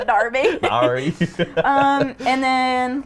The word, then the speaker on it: Derby: place called Derby right next to Birmingham but it's spelled Derby so Derby Kansas so I would always say Derby and